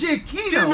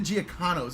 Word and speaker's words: Giacchino: Oh, it's Giacchino. Oh. Giacchino. Babadaboo. I always thought it was Oh, Giacchino. Jesus. Everybody I watched on like YouTube always said Giacchinos. I was like, oh yeah, that's how it's pronounced.